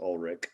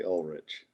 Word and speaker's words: Ulrich: great by the way my brother says Ulrich I say Ulrich you're fine either way